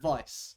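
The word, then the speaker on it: Weiss: people pronounce it like Vice because that's the it's a German word that's the proper way to pronounce it but I I always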